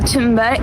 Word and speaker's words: Thunberg: I think Israel has enough problems without kidnapping Greta Thunberg. My name is Greta Thunberg, and I am from Sweden. Well, firstly, we've all been saying it wrong. I mean, that's an unsayable sound.